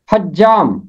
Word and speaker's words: حجام: آیت میں، حجام۔ حجام، جیم کے اوپر تشدید ہے، ہی کے اوپر ہے زبر، حجام۔ حجام کا مطلب ہے